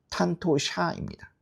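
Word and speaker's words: 担当者: 담당자의요 첫 번째 담은 응 발음이 날 테고 그래서 이거는 탄토예요. 토. 그리고 그다음에 나오는요 지은 사행으로 발음이 바뀌어요. 그래서 탄토샤입니다.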